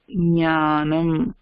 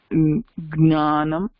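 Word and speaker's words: ज्ञानम्: Jnanam. Some people will say gnanam, gna. Ana, for us we don't say that. We will say nya, jnanam.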